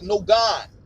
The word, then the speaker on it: Nogaun: california that's my boy no god no god what the quan his name is spelled n-o-g-a-u-n and it's pronounced like no guns this is your boy